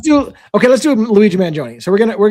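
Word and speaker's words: Mangione: Luigi Manjione.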